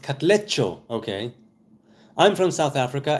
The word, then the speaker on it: Katlego: BMXer says to Katlego, pronounced Katlecho.